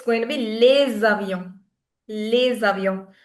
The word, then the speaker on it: les avions: So, it's going to be les avions. Les avions. So, when s connects with any vowel, the sound it produces is that of z.